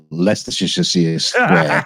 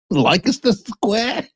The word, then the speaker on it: Leicester Square: central London and no way can they find Leicestershire Square. I can only imagine. Leicester Square. Yeah. I can only imagine that the pronunciation changed because you guys were like, that